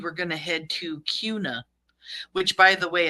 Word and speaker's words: Kuna: left if you were going to head to Cuna which by the way it's not kuna somebody corrected me in my comment it's Cuna so I said I would try harder um